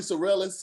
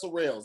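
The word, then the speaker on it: Sorrells: people they were called people were saying billy sorellis on stage they was they were saying everything but surreals it's not that difficult last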